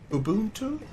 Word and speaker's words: Ubuntu: I kind of like think it's like Ubuntu.